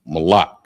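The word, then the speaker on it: מלח: goods under salt and it's pronounced mala. Mala. So, uh, it's spelled M A L A C H.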